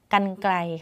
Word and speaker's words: กรรไกร: ภาพ ปึ๊บ เป็น ภาพ กรรไกร ค่ะ เป็น ภาพ กรรไกร จะ เห็น ว่า รร หัน ไม่ มี ตัว สะกด เนาะ ดู ซิ ว่า